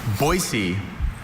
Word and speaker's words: Boise: And I've been to Boisey enough to know its inhabitants prefer that first pronunciation with a hard s to the soft one.